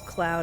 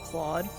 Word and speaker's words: Claude: wasn't going to stop accidentally Mis pronuncia him as Cloud instead of Claude this is all that